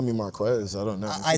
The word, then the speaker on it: Marques: That's how we pronounce it. Marquez. Marquez.